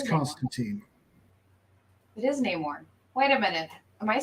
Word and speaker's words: Namor: and it's Namor, it's It is Constantine. It is Namor.